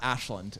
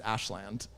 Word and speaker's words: Ashland: want to seem like a local it's not ashland it's ashland that should be the trivia how to pronounce massachusetts putting on the spot uh your